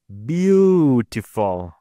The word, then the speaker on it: beautiful: This one tells me that the stress is in the first syllable, beautiful.